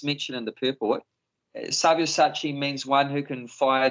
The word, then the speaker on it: Savyasachi: They are already put to death by my arrangement, and you, O Savyachasi, can be put... How do you say? Savyasachi.